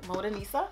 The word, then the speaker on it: Modanisa: - Então Halima recentemente fez uma colaboração com Modanisa. - Whoot, whoot, whoot. - Estou pronunciando corretamente? - Sim, Modanisa. - Modanisa.